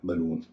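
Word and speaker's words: balloon: की भारी है इसलिए शुरुआती हिस्सा उसको हल्का बोला जाता है तो बी एल में ए का उच्चरण अ हो जाता है और बाद वाले हिस्से में डबल का उच उ हो जाता है पूरे शब्द को बोला जाता है बलून तो बल लेकिन बलून इसी तरह दूसरे शब्दों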